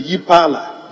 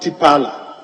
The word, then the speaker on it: Yepala: Roman numeral III should be Yipala, not Tipala. Yipala is spelled YEPALA.